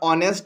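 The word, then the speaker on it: honest: जैसे कि ओनर हो गया, ऑनेस्ट हो गया, वहाँ पे एच साइलेंट है, आवर हो गया, एच साइलेंट है, तो उससे पहले ए का एन का यूज़ होगा।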